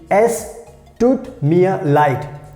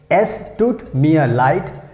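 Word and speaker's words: es tut mir leid: sorry so in german language we can say es toot mia light s toot me a light f stood me a light so if you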